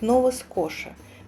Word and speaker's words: Nova Scotia: Название этой провинции произносится как Нова скоша.